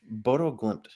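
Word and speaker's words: Bodø/Glimt: pronounce it? Bodo Glimt.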